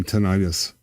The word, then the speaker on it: tinnitus: I thought that was just my tinnitus. What do they hiss? I've never. Everybody hisses. Is that how Americans say it? Tinnitus. Tinnitus, potato. Americans say tinnitus. Yep.